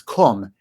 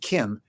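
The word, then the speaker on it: קום: And so the written form of the verb to come is kum, even though Southern dialect will pronounce it kim, they'll spell it kum.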